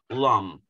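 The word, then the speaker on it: Lam: in your perineal area it's spelled l a m but it's actually pronounced lum now when you're doing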